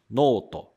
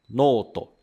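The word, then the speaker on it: ノート: caderno que em japonês se diz noto noto temos a letra com o som de no aí nós temos esse traço para prolongar o som e depois a letra com som de to noto e essa palavra é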